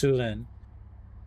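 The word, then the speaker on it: Syulen: I always say it wrong. It's Sulen.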